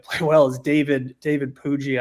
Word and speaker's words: Puig: I think he might play well is David David Puig, I believe is how you pronounce his last name.